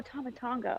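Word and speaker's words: Tama Tonga: live also also how do you say that tama tamatonga tama oh tomatonga okay i was like what doesn't see them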